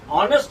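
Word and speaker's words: honest: word I wrote H but here H is silent O will be pronounced so this you will have to pronounce it in this way ही इज एन ऑनेस्ट मैन ही इज ऑनेस्ट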